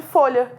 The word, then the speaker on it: folha: sentido esse caso de folha. Pare e observa a sua articulação. Folha. Você faz um barulho só para pronunciar o L e o H. É o mesmo som.